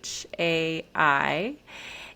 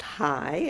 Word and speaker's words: Chai: So, Chai, Chai, which can be pronounced just as high or as chai, it's a mystical word in Hebrew. And it is pronounced high as if it's High.